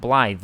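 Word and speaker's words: Blaidd: In Welsh, a double D at the end of a word is pronounced as a th sound. Bllythe.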